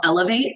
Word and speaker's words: Eloveate: So my podcast is called Elevate. I just launched it last week, and it's not spelled like elevate. It's spelled ELOVEATE with love in it.